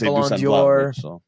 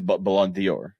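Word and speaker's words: Ballon d'Or: or I mispronounced it just like I mispronounced Balor it's okay it is Balon Dior technically sponsored by Dior I I get it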